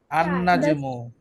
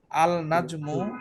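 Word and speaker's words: النجم: না হচ্ছে না আচ্ছা তার মানে আল নাজমু যদি কেউ বলে সেটা ভুল হবে রাইট কি বলতে হবে আন নাজমু নাজমু মোটামুটি আশা করি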